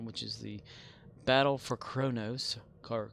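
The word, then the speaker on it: Qo'noS: Remain Klingon, which is the Battle for Kronos, or Quonos. There's no R, but it's pronounced with an R somehow.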